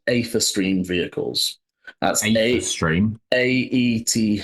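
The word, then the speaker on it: aetherstream: and each of you know they are called ather stream Vehicles that's a stream a h e r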